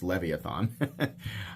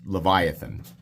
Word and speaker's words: Leviathan: played Final Fantasy 8 first time I ever saw that word I thought well that's obviously pronounced leviathon I think it's Leviathan um but uh yeah